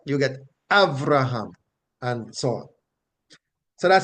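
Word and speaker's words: אַבְרָהָם: So you don't get Abraham, you get Avraham, right? You get Avraham, and so on.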